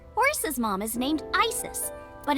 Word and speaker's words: Isis: dancing just dancing that I said horses mom has named Isis but in ancient Egyptian it's pronounced closer to ISA or ASA hmm how do I